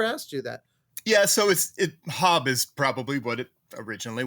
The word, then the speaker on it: Haab: You must get a lot of Haab. Yeah, I get Haab more often than I get Hab, honestly, to the point where I've just stopped correcting people.